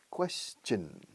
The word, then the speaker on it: question: Question. Es una che. Sonido de che en medio.